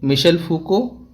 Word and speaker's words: Michel Foucault: Okay, Michel Foucault, Jacques Lacan, Julia Kristeva, and Roland Barthes.